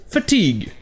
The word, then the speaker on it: fatigue: du mot français fatigue ou comme il est prononcé en anglais fatigue avec le hac qui se prononce à fatigue